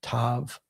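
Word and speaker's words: ת: And then the final letter is tav. And that's a t again like the uh English word toy beginning with with that.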